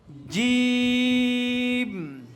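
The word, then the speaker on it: جيم: বর্গকার্য এর মত করে এভাবে শক্ত করে উচ্চারণ করতে হবে জিম জিম জিম এভাবে কি করব শক্তভাবে মত করে জিম উচ্চারণ করবো ঠিক আছে তাহলে এরপর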